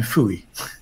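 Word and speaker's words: Fowey: but anyway there's a fishing village called pho e pronounced in American Phooey and there there's a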